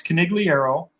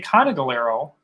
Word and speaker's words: Conigliaro: On the East Coast, it's Conigliaro. In Wisconsin, they actually say Conigliaro. But in Italy, it's Conigliaro, silent G.